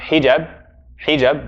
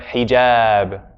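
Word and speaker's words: حجاب: Right, because it's a long one. It's not hijab, but hijab.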